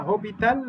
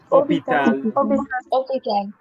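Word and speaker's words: hôpital: واخر حاجه المستشفى حرف الاش لا ينطق يبقى اسمها هوبيتال ولا اوبيتال اوبيتال ادي الاماكن اللي عندي هحفظها مذكر مؤنث ليه بقى؟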